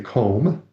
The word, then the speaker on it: comb: So, and again you could hear there and the B is silent, right? So, there's no you don't say comb, you just say comb.